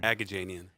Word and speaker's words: Agajanian: name but go ahead and tell us again agajanian a gajini cuz you pronounce that for me Sam janian alright so